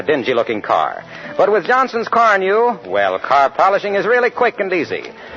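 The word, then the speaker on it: Carnu: polish your family bus with quick polishing Johnson's Car New this week? Car New is spelled C-A-R-N-U.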